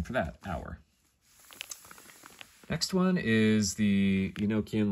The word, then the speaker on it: Ur: The next one is the Enochian letter our. So it's spelled U-R, but it's pronounced our, like our, you know, our friends and our family, or, you know, our, now is the winter of our discontent, right?